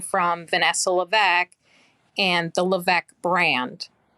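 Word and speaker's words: Lévesque: of keeping separate is my last name is LC but it's spelled l e capital V is in victor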